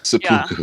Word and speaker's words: Seppuku: I called it the Seppuku deck. Is that how you pronounce it? Oh god, that's funny. Yes. Seppuku.